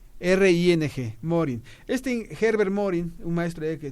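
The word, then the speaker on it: Mohring: Hay un concepto que yo tengo que plantear aquí al aire, por favor, que se llama el principio de Morin. Se escribe M-O-H-R-I-N-G, Morin.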